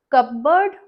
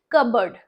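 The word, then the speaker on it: cupboard: इसे कैसे बुलाते हैं, कपबर्ड नहीं, पी इसमें साइलेंट है, तो ये कैसे बोलेंगे इसे, कबर्ड, कबर्ड. पुट माई all clothes in माई कबर्ड. कबर्ड, नॉट कपबर्ड, कबर्ड.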